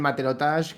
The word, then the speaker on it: matelotage: Bueno, que no, esto es el matelotage, que es Sí, eso lo básicamente como una tenía.